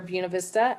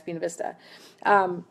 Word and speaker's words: Buena Vista: culture which is where Buena Vista and I do say it correctly Michelle it's not buenavista when you're in Virginia it's been Vista that that tradition of